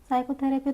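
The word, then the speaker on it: psychotherapy: साइकोथरेपी तो यहां पे हमारा पी प्रोनाउंस नहीं होता है।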